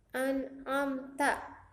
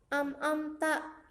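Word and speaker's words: أنعمت: Biasanya banyak kesalahan di ayat 7. Di ayat 7 itu ada bacaan Siratal ladzina an'amta 'alaihim. An'amta. Ya, anak-anak biasanya membacanya am'amta. Itu salah ya anak-anak ya.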